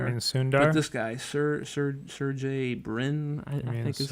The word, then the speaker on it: Sergey Brin: But this guy, Sergey Brin, I think is like kind of how it's pronounced.